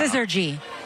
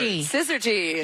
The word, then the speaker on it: syzygy: Syzygy. Yes. Syzygy. Can you spell it? Oh, boy. Is it SD? Is it SYZ? It means perfect alignment, which is what we're witnessing.